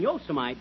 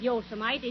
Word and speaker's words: Yosemite: I wish you'd learn to pronounce these Western names right. It isn't Yosemite, it's Yosemite. Oh, yeah?